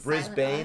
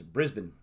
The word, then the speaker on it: Brisbane: Just like Brisbane is Brisbane.